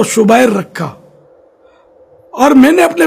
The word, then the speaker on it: شبیر: تو ہے نہیں، حسن، اور شبیر شبیر نہیں بلکہ اصل تلفظ ہے شبیر۔ تو یہ ہو سکتا